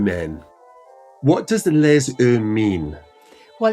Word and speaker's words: Les Yeux: That's spelled L-E-S, then E-U-S, Les Yeux.